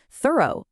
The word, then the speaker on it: thorough: Thorough also sounds like go, it means complete.